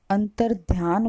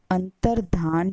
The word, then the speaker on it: अंतर्धान: से हुई है कि हम अगर उच्चारण की बात करें तो हम अंतर्ध्यान उच्चारण करते हैं लेकिन विद्यार्थियों सही शब्द अंतर्ध्यान नहीं है अंतर्धान शब्द सही है अंत वाले जो दोनों